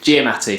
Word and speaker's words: Giamatti: I can't pronounce his surname. Giamatti, thank you, Carl.